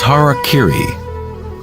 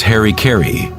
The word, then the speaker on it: harakiri: one form of ritual suicide or seppuku was harakiri was often mispronounced as Harry Carey it means to impale one's horror thereby cutting